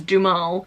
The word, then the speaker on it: Duhamel: hey say his name apparently it's du mal as the dad I